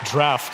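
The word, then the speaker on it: Draught: But it is pronounced incorrectly. Drought. You were right. It's draft.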